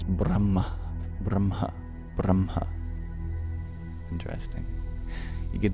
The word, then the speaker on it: Brahma: the M wrong it's b r a h m a one of the interesting things about the word Brahma is that the H is actually pronounced after the M it's the only exception